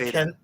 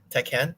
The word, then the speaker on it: Tekken: like how you say I like how you say teeken the right way that's how my cousin says it teeken yeah I hear everyone